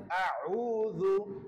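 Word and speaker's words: أعوذ: রু দাল পেশ রু আউজু আউজু এখানে আমাদের নরমাল ভাবে হয় আউজু আউজু আউজু আইনটা কণ্ঠনা লিখে চাপ দিয়ে উচ্চারণ করতে হবে আমাদেরকে সহিশুদ্ধ ভাবে পড়তে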